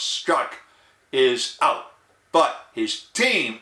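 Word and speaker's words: Strzok: team now the team leader agent peter s-t-r-z-o-k pronounced struck is out but his team is still around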